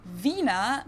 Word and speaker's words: Wiener: in German we say Vina the German W is pronounced like English V and it usually refers